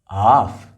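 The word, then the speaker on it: half: यह है हाफ। इन सभी वर्ड्स में एल जो है वो साइलेंट है।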